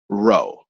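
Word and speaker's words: rho: name I this is this letter here is Greek and it's ro I guess phonetically it's ro ok so in Greek that's how we say it and it is also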